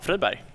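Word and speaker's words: Friberg: What's the actual pronunciation? Probably Freiberg. I guess in English, yeah. Oh, no, we wanted the Swedish one. Oh, Freiberg. That's exactly what I said.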